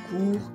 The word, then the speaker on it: cours: Des cours égale des leçons. Prononciation, on dit un ou des cours, sans prononcer le S final.